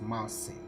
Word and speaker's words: Marseille: next stop is Marseille perfect Mercy that's the that's the correct pronunciation Mercy we have a chat